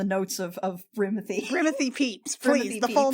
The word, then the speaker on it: Pepys: the last four years it's pronounced peeps i'm sorry honey i